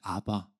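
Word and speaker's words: אבא: 저 아빠라는 말은 그 지역에 사용하는 아라머라는 단어인데 실제 발음도 아바입니다. 아바.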